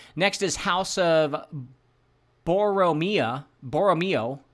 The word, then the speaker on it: Borromeo: me who cares next is House of boria boromo b o o wait b o r r